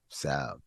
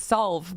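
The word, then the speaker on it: salve: m b l m like a Sav which also has a silent L SV that it does does s a l v e SV yeah I always thought it was solve but it's not no I'm glad you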